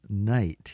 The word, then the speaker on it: knight: probably seen this um many English words don't pronounce all of the letters from the way that they are spelled and this is one of those cases we don't hear the K in the night here we don't say kite